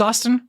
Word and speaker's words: Austin: All right, guys, with all the YouTube jargon out of the way, my name's Austin, rhymes with Boston, and I will see you guys in the next one.